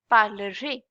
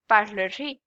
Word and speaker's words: parlerez: It's pronounced as parlerez, parlerez.